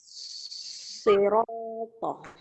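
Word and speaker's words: صراط: kelihatan nya roknya pendek sirotol tulisannya ya tulisannya bukan cara bacanya cara bacanya sepakat siroto itu panjang dua harakat scirocco ya Nah kalau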